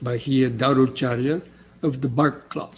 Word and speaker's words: Bahiya: the bark cloth so that's the way it's pronounced bahia darucharya of the bark cloth so he probably